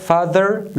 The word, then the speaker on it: father: لومړی TH په ذال باندې تلفظ کیږي چې مثال یې په father لغات کښې واضح شوی دی.